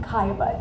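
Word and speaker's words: Caillebotte: when i taught eighth yard history i love saying the name kaya but you know i just wanted the students to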